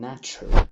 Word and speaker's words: nature: نرحب بالشخصية الخامسة معانا وخلينا نسميها التي المشوشة، ودي مشهورة جدا زي nature أو future.